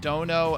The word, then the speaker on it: dono: So, pronounced dono, and when attached to a name roughly means lord or master.